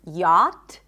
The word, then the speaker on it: yacht: First word I want to talk about is the word yacht, and the spelling has nothing to do with the pronunciation. We do not pronounce the CH, right?